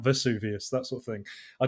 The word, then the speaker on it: Vesuvius: What is Mount Suvius, which she mispronounces, which should be Mount Vesuvius, that sort of thing.